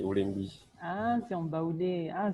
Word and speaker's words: Oulembi: Est-ce que c'est Welby? Parce que moi, j'ai eu du mal, hein, franchement. Oui. C'est Oulembi. Attends. Oulembi. Tu peux épeler? C'est W-L-E-N-G-B-I. Oui, Oulembi. Donc, c'est en baoulé, Oulembi.